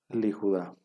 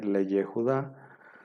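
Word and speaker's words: לִיהוּדָה: una vocal no Entonces ahora se va a pronunciar liuda en lugar de ley Judá ahora se va a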